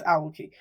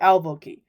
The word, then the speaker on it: alveoli: I don't know if I'm pronouncing it right, but I think it's alveoli.